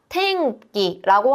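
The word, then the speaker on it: 天気: 음뒤에 카키쿠케코 가기구고가 오게 되고요. 탱기라고 하게 되는데요. 카행과 가행이음 앞에 오게 되면 음은 이응받침이 됩니다.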